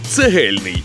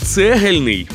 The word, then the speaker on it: цегельний: пропоную з міцного слова Цегельний в ньому під наголос потрапляє другий звук е а дехто як і я до цього дня думав що правильно казати Цегельний Цегельний цегель Цегельний тож запам'ятайте